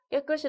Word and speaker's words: 깨끗이: 된다고 생각을 하는 건데요 그 경우에도 여기에서 이렇게 발음이 되지는 않습니다 아 따라서 깨끗이 라고 발음하는 것이 맞다 감기의 경우 우리가 이걸